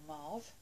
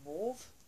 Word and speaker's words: mauve: I got is actually called mave or morve or mauve whichever you want to pronounce it so this is